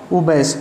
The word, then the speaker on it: abash: इसकी प्रोनाउंसिएशन क्या होगी? उबैस, UHBASH, UHBASH। ये इसकी प्रोनाउंसिएशन लिखी हुई UHBASH।